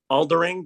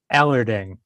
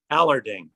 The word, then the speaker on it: Allard: And Jason, if you could just It's Aldering. Did I pronounce it right? Or how do you pronounce your last name? Allard. Allard. Okay, that's correct. Yep.